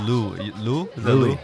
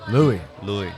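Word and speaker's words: Luis: How do you say the Louis? Louis? Yeah. Oh, Louis. Louis.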